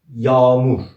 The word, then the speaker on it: Yağmur: Let's ignore soft G in this word and let's make A double. How did we pronounce A in Turkish? A. Let's double and read it again. Yağmur. Nobody can understand you use soft G or you made A double.